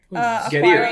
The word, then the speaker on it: Getir: Getir, like get here.